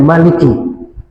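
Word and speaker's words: مالك: Jadi Maliki Yaumiddin dengan Maliki Yaumiddin itu ada dua cara baca. Bisa dipanjangkan Maliki, boleh. Bisa juga pendek Maliki, tidak kata alif, boleh kalau 155 atau 156.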